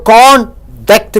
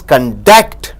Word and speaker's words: conduct: When you stress the first syllable, that is con, it means noun. So conduct means character. If you stress on duct more than con, if you stress on duct more than con, it means conduct.